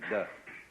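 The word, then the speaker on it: 德: meaning of this word, de. The Japanese pronounce it toku, the Cantonese dak, and the northern Mandarins approximately de.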